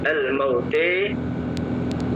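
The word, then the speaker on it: الموتى: juga dibaca imalah ya jadi cara membacanya nya almauta menjadi almaute taala jadi taale ihda menjadi ihde kubra menjadi kubre.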